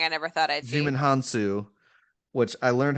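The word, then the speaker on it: Djimon Hounsou: Digimon Hansu. That is definitely not how I pronounce it. That's yeah. I understood. There's a D in Um, there, and I didn't know that the D was silent.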